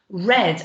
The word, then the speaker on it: read: or that word there can actually be pronounced red i read the book it's the same spelling same looks exactly the